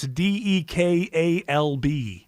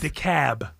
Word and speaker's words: DeKalb: Ashford & Simpson it's a no-no right and pronounce this de kalb DeKalb no see I gotta bring you up to speed Acula Dacula no the cab New York where we name things normally so